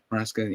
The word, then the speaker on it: Maresca: Club, obviously signing Enzo Maresca. Is it Marescas? If I pronounce the last name right? Maresca, yeah. But again, let us know all of you are in the comments down below as well.